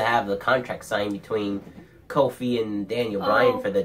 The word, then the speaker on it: Kofi: the contract signed between Kofi and Daniel Bryan for the championship match at Fastlane. I hope Kofi beats Daniel Bryan. Oh, yeah. Because I like Kobe. Did you just say Kobe? It's Kofi.